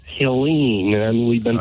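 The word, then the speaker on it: Helene: me go on pronunciation you have been calling our hurricane elen elen yeah and nobody pronounces it that way it's Helen and we've been saying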